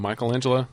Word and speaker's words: Michelangelo: And Is Michelangelo related to Michelangelo? Yes, I'm using the Italian pronunciation.